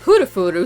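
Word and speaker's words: プルフル: Kodansha went with the Japanese pronunciation of Purufuru since he was named after the Japanese sound effects for jingling and shaking.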